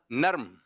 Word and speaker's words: نرم: کچھ لوگ کہتے ہیں نرم، کچھ لوگ کہتے ہیں نرم. صحیح تلفظ ہے نرم.